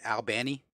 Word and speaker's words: Albany: in Georgia down in Albany Georgia I say Albany but if you live in Albany Georgia you pronounce it Albani Albani they had a pretty